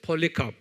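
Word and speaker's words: Polycarp: 뭐예요 2 ca r p ole 카프리 한번 발음해 보세요 펄리 카 아주 유명한 사람이 여기 누구의 제대 사도 요한의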